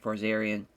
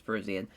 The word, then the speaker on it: Parisian: But I think he's got a good chance against Josh Parzarian. Parisian. I always forget how to pronounce it. Yeah, I'm pretty sure it's Parisian.